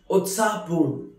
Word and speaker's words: उत्साहपूर्ण: नाना जी को मेरी नमस्ते बोलिएगा से my hello to grandpa उत्साहपूर्ण lively और excited उत्साहपूर्ण which is pronounced as उत्साहपूर्ण which means very excited, very lively.